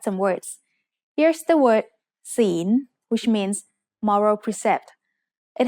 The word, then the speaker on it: ศีล: ศีล is said with a rising tone because it has a high-class consonant with a live syllable ending.